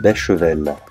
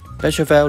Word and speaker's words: Beychevelle: Château Béchevel， Béchevel 龙船酒庄，我叫佢做龙四嘅。